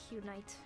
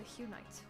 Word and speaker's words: Hunite: I'm also a Hunite. I don't think I've ever said that word out loud. Hunite. Oh my god. What if I mispronounced it? Hunit. No, it's a Hunite.